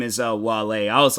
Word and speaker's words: Wale: I was like, Whale, but no, his the guy's name is Wale.